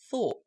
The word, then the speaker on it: thought: Then you get thought. So listen to the sound change. Though, thought. It's spelt OUGH.